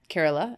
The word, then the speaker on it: Kerala: once and the area I was in was Kerala am I pronouncing that right yes you are and you